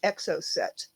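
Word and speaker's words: Exocet: relatively standard solving technique, the EXO set. For those who don't know the word, it's spelled E-X-O-C-E-T. That's C-E-T. It's not S-E-T.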